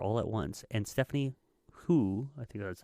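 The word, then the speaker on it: Hsu: And Stephanie Hu, I think that's how you say it.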